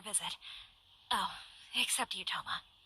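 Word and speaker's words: Thoma: oh except to you toma toma that's how you say his name okay you must be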